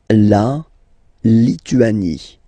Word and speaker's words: Lituanie: La Lituanie. Remember in French, sorry, H doesn't exist, okay, so you don't pronounce it, and it's li, tu, a, ni, Lituanie.